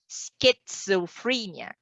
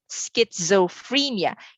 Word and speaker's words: schizophrenia: pronounce the entire term schizophrenia schizophrenia you say the letter s and you really make it obvious that letter c and h are pronounced as well compared to letter a